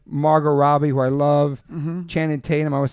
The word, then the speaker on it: Channing Tatum: Nikki for Billboard, Margot Robbie, who I love, Channing Tatum. I always say his name wrong.